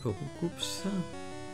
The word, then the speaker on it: Roucoups: Hop, Roucoups. Roucoups qui devrait s'appeler Roucou en fait, pas, on devrait pas prononcer le S.